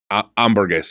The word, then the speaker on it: hamburguesa: H is silent. Hamburguesa.